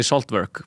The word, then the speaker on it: Saltverk: Like I mean normally people say saltburg but I like I